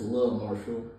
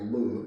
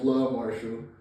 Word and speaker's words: Luh Marshall: So that's Love Marshall. I heard some of the people pronounce it their loves as like Lou. So this is Love. It's not Lou. It's Love Marshall.